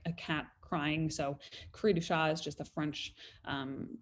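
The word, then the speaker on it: cri du chat: or credo chat um it's actually a french term so crew shot i think is the the proper way to say it um it's also called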